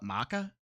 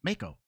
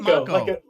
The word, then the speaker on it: Mako: But Corneo, yeah, but that, and they call it Maka. It's Mako. I always say Mako energy. They're saying Mako. Yeah. Well, then spell it Mako. Mako, like a Mako shark.